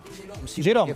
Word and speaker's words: Gerón: ¿Cómo se pronuncia su apellido? Gerón, perfecto, es francés, claro.